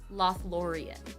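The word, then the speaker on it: Lothlórien: Loth Laurian.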